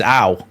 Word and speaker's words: Ao: I know that Tanaka's name is spelled AO, but that's not how you say it. So I've never that chant of AO, let's go, has never. A, it comes from a bloody advert, and B, his name's Ow, so it's not Ow,